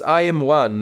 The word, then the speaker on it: IM1: Uh, it's IM1 and it's a abbreviation of interstellar meteor one.